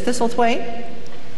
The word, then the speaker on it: Thistlethwaite: piece of paper, and just perfectly, she says, Thistlethwaite. And I was just about to say, how well you pronounce that, and she says, Thuthen.